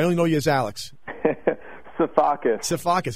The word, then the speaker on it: Sifakis: know you as Alex saus seacus exactly how it's spelled why couldn't I get that